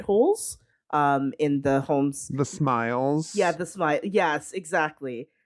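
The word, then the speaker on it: smial: In the homes, the smiles. Yeah, the smile. Yes, exactly. She pronounced them Smeals, I think. Smeals, I think. Yeah, but it's Smiles.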